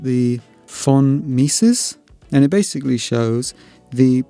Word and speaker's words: von Mises: I think it's pronounced the von Mises, and it basically shows the pressure in the metal in different areas.